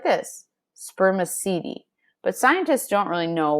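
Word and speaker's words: spermaceti: from a waxy material in their heads called spermicidi you say it like this spermicidi but scientists don't really know what its purpose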